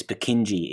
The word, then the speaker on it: Purkinje: And along, the different pronunciations of this, Purkinje tends to be the way it's pronounced.